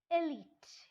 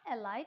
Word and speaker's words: elite: the government doesn't cover it is the wrong pronunciation it is elite elite which means powerful rich intelligent that's elite so it is not a light it's a wrong pronunciation